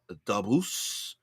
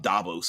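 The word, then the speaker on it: Dabus: a bu s uh dbos I I I like dbos I like to put the emphasis on the first word I think it makes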